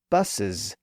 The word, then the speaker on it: buses: Of course, we do the same thing with the word buses, where the first S is pronounced as an S, and the second S is pronounced as a Z.